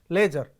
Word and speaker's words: leisure: So, leisure, right, that is pronounced as not leisure, that is leisure, right.